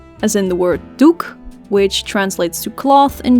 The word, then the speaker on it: doek: in Dutch nose o as in the word Duke which translates to cloth in Dutch Duke and